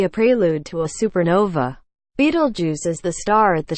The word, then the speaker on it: Betelgeuse: He told CNN that Betelgeuse, pronounced Betelgeuse, been declining in brightness sharply since October, and was now about 2.5 times fainter than usual.